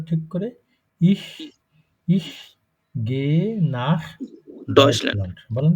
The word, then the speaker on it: nach: Ich না উচ্চারণটা ঠিক করে। Ich gehe nach Deutschland. বলেন তো একবার ich gehe nach Deutschland. Nacht না nach.